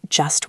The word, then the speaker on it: just: It ends in st. If the next word starts with a consonant, we drop the t. Think about the phrase just one.